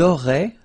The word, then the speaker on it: auraient: Vous auriez, little link between the two, vous auriez, and then, ils auraient, little link, but then look, A-I-E-N-T like that, and you only pronounce E, like we had here.